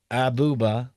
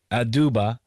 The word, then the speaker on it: Aduba: It it stars the cast includes Peter Dinklage, uh Ben and Mendelson, Lee Stanfield, Juno Temple, Melanie Diaz, Usuzo Abuba, Aduba, I said his name wrong.